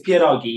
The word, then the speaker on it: pierogi: By the way, when they did the titles, it's pierogi. Yeah, it's like dumplings, basically. I will not spell it wrong in this article.